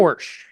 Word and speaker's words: Horejs: He's a Xanadu Gallery owner, and I want to make sure that I pronounce his last name correct. Is it Horsch? Is that It's correct? Horsch. That's right. Horsch.